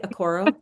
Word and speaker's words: Oroko: Aoro. Is that right? Aoro. Yes, that's right.